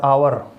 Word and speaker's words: hour: HOUR, आवर, H silent रहता है, ठीक है।